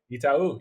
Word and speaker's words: Itaú: Obviously, tennis-centric crowd who's listening to this, but Miami Open by Itaú. Did I say it right? Itaú, yes.